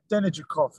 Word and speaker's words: Denijakov: I can't pronounce his surname. Denijakov, is that right? Yes, that's it, yes.